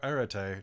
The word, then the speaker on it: arete: Remember to raise your arete or arete, depending on how you pronounce it.